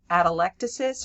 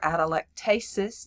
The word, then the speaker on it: atelectasis: Moving on, atelectasis or atelectasis, depending upon who is pronouncing it, is a collapse of the lung that involves usually one of these four causes.